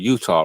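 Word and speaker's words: Eutaw: You had like I think it was like 2,000 or 4,000 black Republicans in this city called Utah, right?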